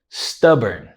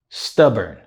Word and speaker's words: stubborn: Well, this next one here is, pronunciation is important. Stubborn. Stubborn. Guys, don't go stubborn. It's stubborn. Stubborn.